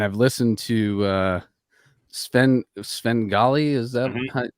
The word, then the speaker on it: Svengahli: and uh and I've listened to uh spend Sven golly is that how you say it yep that